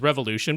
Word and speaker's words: R_volution: Yes, which they do want to be pronounced as revolution, but refuse to spell it in such a way.